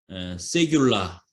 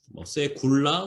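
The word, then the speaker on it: סגולה: 그래서 기업의 백성이라고 했는데 여기 이제 기업의 백성이라는 단어가 히브리 말로 세귤라, 세굴라 혹은 세귤라 이렇게 발음이 되는데 이 세귤라라는 단어가 쓰였다고 하는 것이죠.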